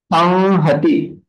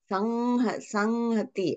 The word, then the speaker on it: संहति: Samhati. Sanghati. Oh my God. Okay. Samhati is not correct pronunciation. There should not be Oshta touch, should not be there. Sanghati. Ma is different and Anuswara is different.